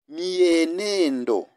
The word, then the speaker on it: mienendo: Ninasema mienendo. Sio, it is not mienendo. No, it is mienendo. You pronounce as there is why there. Eh? It's just hidden why.